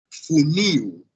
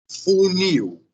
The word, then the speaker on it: funil: pronúncia dessa palavra é funil. Funil. Sim? A pronúncia é funil. Então, a sílaba forte é a última sílaba. Funil. Certo? Funil. Sílaba forte é a sílaba final.